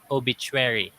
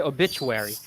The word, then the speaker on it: obituary: Beach approachable and then in the Philippines we say obituary uh and because sometimes I said also as obituary so it's like obituary so obituary instead of like a four uh syllables sometimes they make it like five obituary something like that yeah now let's have